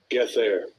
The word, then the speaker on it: Gether: Oh yeah, Gether got that. Gether got that 666, and they gave them the 666. Mm-hmm. Let's see how they pronounce it. Strong's H 1666. Get there.